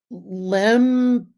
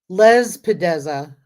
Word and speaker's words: Lespedeza: Lempedeza. I don't know how to spell it. Hold on. Let me look it up. Lespedeza. Hold on. Command C. I was saying it wrong.